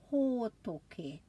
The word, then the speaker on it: hōtoke: So remember the a, e, i, o, u, and make sure you put a break after every vowel and practice with me pronouncing the word for winter, hōtoke.